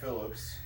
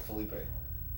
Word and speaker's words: Phillippe: Is it Philippe? It's Philippe. What did I say? Felipe? Phillips? I don't know. Phillips? Phillips. Philippe. I was thinking Lou Diamond Phillips. Oh. Yeah. Ryan Philippe.